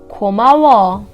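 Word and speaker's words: 고마워: a lot in series “komawo” “ko” “ma’ “wo” ?Right I don’t say komaoo don’t say komao Something between these two “komawo” wo ?right Our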